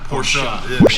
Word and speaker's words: Porsche: Porsche. Yeah, it's not pretentious. It's the right way to say it.